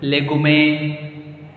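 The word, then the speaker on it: légumes: Legume. Hey, don't make a joke here. It is a very easy to see why legume you are saying here. It's such a long word. Why you are pronouncing S?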